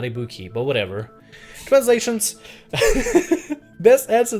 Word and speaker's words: Ibuki: Also, he pronounced Ibuki. I'm pretty sure it's supposed to be Ibuki. Like emphasis on the on the E, the on the I on the letter I.